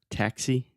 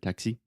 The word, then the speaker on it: taxi: And also the word taxi. For some reason, you stressed the last syllable and said taxi or something, but it's taxi. So the stress Taxi. is Yeah. on the first syllable.